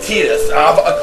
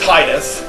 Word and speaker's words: Tidus: Yeah, it's pronounced Tidus. When I first got this game, I always thought it was pronounced Titus. But if you play the City of Final Fantasy and you play like Kingdom Hearts, that kind of stuff, everybody now pronounces it Tidus. So that's how I'm going to pronounce it because that's how everybody else pronounces it.